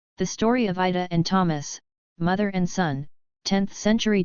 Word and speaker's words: Thomas: Abstract, Ida and son Thomas, pronounced Thomas, live in a village of a fiefdom located in present-day eastern Germany in the vicinity of Wörnitz in modern-day Bavaria.